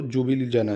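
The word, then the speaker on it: Ljubljana: क्या हो जाएगी दोस्तो जुबल जना जुबल जना जुबल जना एल साइलेंट कर दो इसका एल जबल जना कर लो चाहे ठीक है याद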